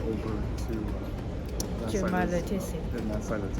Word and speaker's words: Cumalıkızık: Cumalıkızık. Cumalıkızık köyü.